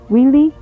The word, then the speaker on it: Wili: gonna proceed on down Willie Road Willie if you notice it is pronounced in the English fashion otherwise if it was Hawaiian it'd be wheelie I believe or no that's correct